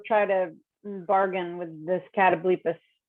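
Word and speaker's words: catoblepas: to bargain with this catablephis i used to call it a cat obliqus when i was a little kid i know that's not how you say it but close enough yeah we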